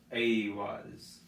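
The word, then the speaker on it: Eihwaz: But it said that Aiwas was supposed to be between the pronunciation of the vowels I and E, but there's very little in between that. But you can think of it as using a hard A pronunciation.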